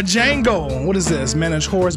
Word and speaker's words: Django: The D is silent. Got myself a Django.